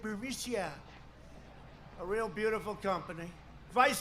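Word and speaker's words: Burisma: executives so this uh buremicia bermucia they say pronounce it burmesia a real beautiful company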